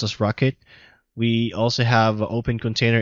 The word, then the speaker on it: rkt: We also have RKT, which is pronounced as Rocket.